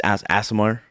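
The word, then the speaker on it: Aasimar: Because it's Asimar.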